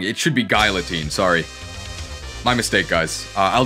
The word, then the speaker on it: Guillotine: Yeah, I've been pronouncing it wrong. It should be Guillotine, sorry.